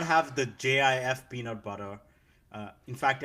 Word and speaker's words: GIF: When And so like he came he came out and he's like it's pronounced Jif, not GIF.